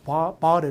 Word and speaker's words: bottle: from 안 들리고 bottle. 이것도 약간 미국 사람들은 오를 아로 발음하고 이걸 굴려서 리을 발음해서 bottle 이렇게 쓰는데 실제로 이제 bottle 있어요.